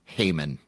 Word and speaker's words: Heyman: This is the number 1 overall pick in the 1963 NBA draft, Art Heyman. Sure you're pronouncing that correctly? Art, yes. Hey, man. Yeah, hey, man.